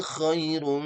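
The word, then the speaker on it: خَيْر: Lailatul qadri koi bukan ya, bukan e ya, tapi iirum.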